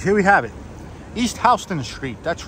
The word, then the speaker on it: Houston: all right guys here we have it East HST Street that's right H not Houston h that's how we pronounce it here in New York if you say Houston people are going to think you're a tourist